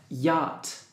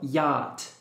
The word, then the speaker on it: yacht: ducklings puddle strain yacht pay attention to this word yacht and forget letters cnh it doesn't make sense so yacht that's it all railings